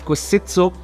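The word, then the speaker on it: Kvaesitso: this launcher while being a little tricky to pronounce is called kositso it's a really cool Android Launcher because it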